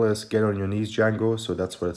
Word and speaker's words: Django: get on your knees jango so that's what it says there let's take a look at the spy it says get on your knees dangle yeah they i guess the j is silent and also for the